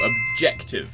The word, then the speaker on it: objective: the answer is to objective that's the odd one out allergy first syllable physical first syllable strategy first syllable objective second syllable that's the process that